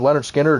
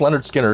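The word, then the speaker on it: Lynyrd Skynyrd: some of them out just search Leonard Skinner it's spelled wacky with a bunch of wi's but one of the best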